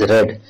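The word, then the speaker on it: read: देखिए ही हैज रेड, यहां पर जो हमने ये लिखा है ये आर ई ए D spelling वही है लेकिन इसको रेड पढ़ा जाता है।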